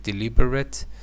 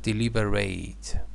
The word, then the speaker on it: deliberate: an adjective I'm sorry as an adjective deliberate as a verb deliberate you know pronunciation changes to consider carefully to